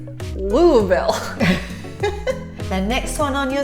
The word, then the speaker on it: Louisville: is coming up now no it's not Louisville and it's certainly not Lewisville it's Louisville the next one on